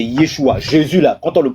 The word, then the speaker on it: Yeshua: Dit la prononciation en araméen, c'est Yeshua.